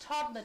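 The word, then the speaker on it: Todmorden: I think and it's it's pronounced Tomlin as far as I know but that's it yeah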